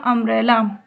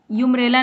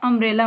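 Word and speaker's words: umbrella: तो अम्ब्रेला, इसका प्रोनाउंसिएशन होगा अम्ब्रेला, यूम्ब्रेला नहीं, अम्ब्रेला।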